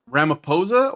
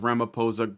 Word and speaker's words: Ramaphosa: Okay, so on May 21st, 2025, South African President Siril Ramo Ramiposa or Ramaposa, it looks like a ph sound, but I've heard it pronounced with a p.